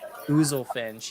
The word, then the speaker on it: Oozlefinch: Ouzelfinch, yes. How do you spell that?